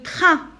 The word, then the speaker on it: train: Le train, AIN se prononce 1.